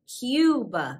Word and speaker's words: Cuba: we have cuba cuba cuba like a cube and people from cuba